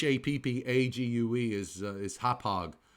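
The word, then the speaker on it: Hauppauge: that's correct that's exactly how you how you pronounce it and h APPA gue is is hauppage not happy you okay that's out that's out near main all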